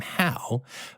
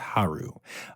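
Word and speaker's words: Hal: the the spelling of the name was h a l like like the name how but I guess in the um the language of the area that palace's cats are from that is pronounced Haru uh but it was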